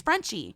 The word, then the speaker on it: Frenshe: It's spelled Frenshe. It's Frenchy.